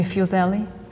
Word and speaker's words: Füssli: They didn't know how to pronounce his name, they call him Henry Fuseli there, they really do.